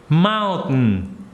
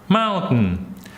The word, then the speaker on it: mountain: the word mountain mountain what you do is you just don't pronounce the T so it goes like mountain mountain same thing for winner